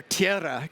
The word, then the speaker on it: Tiara: So, our Tiara key key roll your Rs.